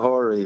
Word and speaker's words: Horii: The commander there, Horii, I believe, is that how you pronounce his name? Yeah, Horii, right.